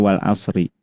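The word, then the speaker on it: وَالْعَصْرِ: Namun kalau kita mengamalkan cara berhenti, maka wal asri itu dibaca dengan cara mensukunkan huruf ro.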